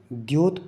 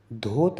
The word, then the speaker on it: प्रद्योत: है, शब्द आया है, इसको हमने द्योत पढ़ना है। कई लोगों के उच्चारण में धोत आता है। यहां पर ध नहीं है द है विद्या अर्थात विद्यासागर जी वाला द है तो विद्य पैसे प्रद्योत पढ़ना है यहां पर यह हमें